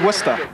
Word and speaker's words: Worcester: hills of worcester massachusetts and that's pronounced worcester the ice cats will